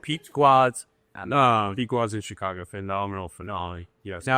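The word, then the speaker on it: Pequod's: If you're ever in Chicago, Pequot's. That's please. Yes, Pequot's. Pequot's. Say that what? So how do you spell it?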